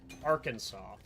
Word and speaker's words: Arkansas: the two is one has a r at the start of it and then it's Kansas. But they're still pronounced two different things. just because of where they come from and like the different languages that they got uh brought in as Arkansas is